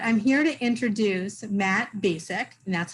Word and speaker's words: Bacak: never am but i'm here to introduce matt basic and that's how you say his name so basic right okay so um but i didn't know